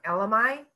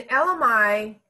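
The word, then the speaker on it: elemi: They just had a sale on LMI. And LMI, it's spelled E-L-E-M-I, I believe, LMI.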